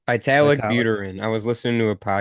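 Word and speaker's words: Vitalik Buterin: Vitalik Vitalik, Buterin. I was listening to a podcast, so that is the right way to pronounce it.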